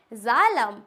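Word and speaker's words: xylem: a word clear हुआ अगर किसी भी वर्ड के बिगिनिंग में स्टार्टिंग में x आता है तो हम उसको ज की फॉर्मेट में पढ़ते हैं किसकी फॉर्मेट में करेक्ट इट्स ज जड को हम ज प्रोनाउंस करते हैं तो की फॉर्म में पढ़ेंगे तो क्या हो जाएगा जाइलम आपने पढ़ा होगा नाइंथ में प्लांट फिजियोलॉजी में जाइलम फ्लाय तो ये क्या हो जाएगा हमारा जाइलम नेक्स्ट होता है नोफोन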